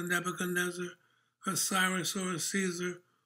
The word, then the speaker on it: Caesar: a cyrus or a caesar whose name in latin is pronounced kaiser god was god before